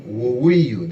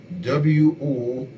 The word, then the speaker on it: Woweiyu: We also had Tom Woweiyu, that's spelled W-O-W-E-I-Y-U, Tom Woweiyu.